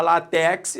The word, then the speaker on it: látex: raça sílaba tônica né se eu falar látex aí deu rolo não é látex Então se é látex a sílaba tônica concentre é lá é uma paroxítona paroxítona terminada em x